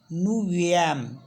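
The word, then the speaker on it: neuvième: ninth को बोलते हैं नाइन को बोलते हैं फ्रेंच में नफ और प्लस इसमें हम क्या करेंगे एफ को हटा के वी और ऐड कर देंगे यहां पे है ना तो एफ को हटा के वी ऐड कर देंगे तो यह हो जाएगा नवी एम नवी एम तो नफ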